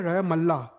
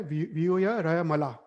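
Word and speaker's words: विहुयरयमला: और फिर ये भी मिस्टेक हमारी होती है, व्यू है र मल्ला। हम डबल ल बोलते हैं, पर वो गलत है। एक्चुअल है व्यू या र मला।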